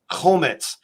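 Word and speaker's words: חומץ: the cross and the word for vinegar is Komets am i pronouncing that correct yes yes Komets the Messiah he willingly drank it home it's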